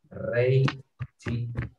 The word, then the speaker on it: reiji: Khusus jam 24 atau jam 00 di dalam bahasa Jepangnya pengucapannya pakai reiji. Ya, khusus untuk jam 12 atau jam 00. 24 malam ya atau 24 atau jam 00 khusus reiji ya.